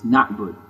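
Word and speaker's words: نعبد: Na'bud's kind of tricky pronunciation-wise. It has an Ayn after the A, but there's no vowel after the A. So it's not Na'bud, it's Na'bud.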